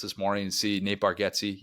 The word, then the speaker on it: Bargatze: And I in a couple of weeks, I just bought tickets this morning to see Nate Bargatze. Yes, it's Bargatze, not Bargatze.